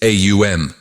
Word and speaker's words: AUM: It explains that Om is actually composed of three distinct phonetic sounds, A, U, and M. When you pronounce it correctly, it is AUM.